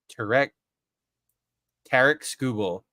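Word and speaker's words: Tarik Skubal: I also learned how to pronounce his name. It's Tarek Skubal.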